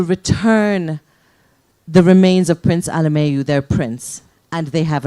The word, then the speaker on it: Alemayehu: And so I was researching about Prince, let me say his name correctly, Prince Alemayehu, from what was then Abyssinia.